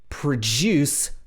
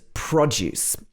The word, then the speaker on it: produce: finish this one is produce versus produce the first one is a verb and the second one is a noun but they have different stress so these two words